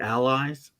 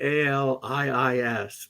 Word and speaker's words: Ali'is: from Hawaii called the Allies? I'm not. No. I think it's AL. It might be ALIIS, but Ali'is. Pardon? Ali'is. Oh, is that how they pronounce it?